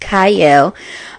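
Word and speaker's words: Qyle: It is spelled with a Q. It's literally my Instagram name, but it is pronounced Kyle.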